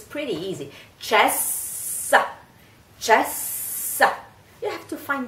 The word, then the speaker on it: cessa: Cessa crudel. Cessa means stop. So, cessa. It's not cesa or cesa. It's ch, ch, ch. In this case, the C is pronounced ch.